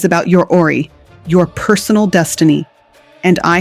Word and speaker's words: Ori: In the Yoruba spiritual tradition, Ori, pronounced Ori, is your inner spiritual head.